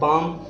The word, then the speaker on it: palm: है chalk, CALM L silent है काम, PALM पाम, CALF में L साइलेंट है काफ हाफ।